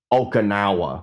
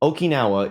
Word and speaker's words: Okinawa: for having uh some American solders pronounce it okanawa which was really something Okinawa if you are not